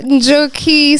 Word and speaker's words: Njoki: So Njoki spelled backwards is icon, but the J is silent.